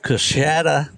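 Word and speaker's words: Coushatta: I've got Colby Self of Coshada, Louisiana. Did I pronounce that right, Colby?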